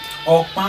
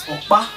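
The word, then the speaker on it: Ọkpa: Okpa is spelled O-K-P-A. Not just OKP, not just OKPA, but in that O, there is something under it. Look at it, you will see. You can't just say OKPA.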